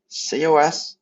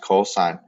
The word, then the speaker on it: cos: saying sin it's sign c o s is pronounced cosine so don't say cos